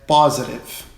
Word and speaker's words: positive: Então a pronúncia certa é positive, positive, como se fosse um O, com acento agudo no O, Então fica aí essa primeira pronúncia.